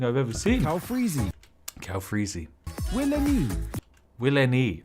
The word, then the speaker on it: Will NYE: Will NYE. Ah, that's how it's pronounced. It's not Wilney.